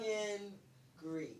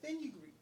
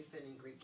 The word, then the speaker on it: fenugreek: Funkin' Greek. Fenugreek. Fenugreek. Is that Fen? Fenugreek. Fenugreek. Is that how you pronounce it?